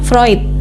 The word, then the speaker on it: Freud: menyamakan dulu psikm anfroid tulisannya Freud tapi kita bacanya vroid sama kayak psychoanalysis walaupun